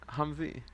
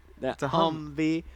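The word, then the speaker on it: Humvee: Humvey. Humvey. Humvey.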